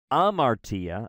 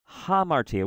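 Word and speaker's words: ἁμαρτία: a little H there I'm not saying I'm Artie I'm saying hamartia where am I getting that H I'm getting that H from the rough breathing mark over the first first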